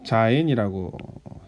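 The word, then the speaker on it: זין: 그 다음 단어는 이제 자인이라고 읽습니다.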